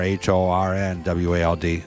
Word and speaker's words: Hohenwald: in Linden Tennessee is hornwalled with an R h-o-r-n-w-a-l-d so hornwald is how you pronounce it so you know hornwald Road here